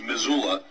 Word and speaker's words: Missoula: a relatively small County of I believe it's pronounced Missoula uh where same day registration election day registration